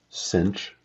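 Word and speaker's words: sinh: hyperbolic cosine go by the way this is pronounced cinch and this is pronounced coach coach of X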